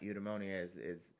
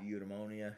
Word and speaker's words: eudaimonia: Eudaimonia it's spelled like edamame. Yeah. Eudaimonia.